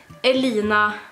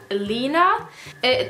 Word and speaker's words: Elina: You say Elina or Elina. You don't really pronounce it like you write it, because you pronounce it more like Elina.